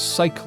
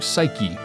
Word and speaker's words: psyche: introduces the psyche lock which I had pronounced as psyche lock until very recently before I noticed that the e turns it into psyche the human soul mind or spirit it's used as